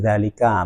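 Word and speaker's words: ذَٰلِكَ: Zalika pakai zal ya, bukan pakai zo. Zalika, nah itu tidak boleh dibaca jalika, juga tidak boleh dibaca zalika, tidak boleh dibaca juga zolika, tapi bacanya harus zalika.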